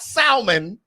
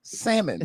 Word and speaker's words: salmon: black people black people that L and salmon is silent it is not salmon it's salmon salmon correct and then the last one often